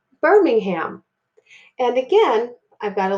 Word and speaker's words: Birmingham: together that would say Birmingham and again I've got to look here I have IR and notice that I don't really hear that I sound because the R is bossy and controls